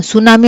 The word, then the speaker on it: tsunami: ఇందాక చెప్పా కదా, ఇది మనం సునామీ అంటున్నాము అంటే ఏంటి? టీ అనేది మనకి సైలెంట్ లెటర్ అనే దాన్ని మనము పలకము, అది ఊరికే షోకు ఉంటుందే తప్ప దానిని మనము పలకము, దాన్ని మనము వాడము.